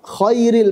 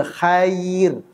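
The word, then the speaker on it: خير: Jadi huruf kha, khairil maghdubi.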